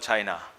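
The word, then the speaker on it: Qin: was no country called China China then was divided into small kingdoms fiefdoms and it was not United they were Waring States in China in a small feudal State called kin pronounced chin the feudal Lord or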